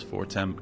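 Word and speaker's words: Fortemps: stole from the house form cavern. I think that's pronounced for it's very French.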